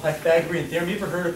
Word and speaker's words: Pythagorean: It's the Pythagorean theorem? No. You don't want to emphasize the wrong syllable, okay? It's Pythagorean. Say it, Pythag. Great word. Or Ian, like the name Ian. Pythagorean.